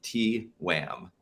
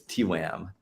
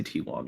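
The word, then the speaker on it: TWAMM: maker or tym pronounced T Wham so it is T wam officially according to Dan who invented it I think continue in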